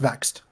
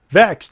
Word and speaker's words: VXT: that's Chelsea Green and Diana perazzo sorry it's pronounced vexed vexed okay vexed it's spelled vxt so that's a you know